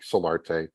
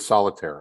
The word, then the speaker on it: Solarte: at Solarte uh just like it just like I say it because uh the pronunciations I've gotten over the years on my last name are just how do you get solitire out of solar how do you how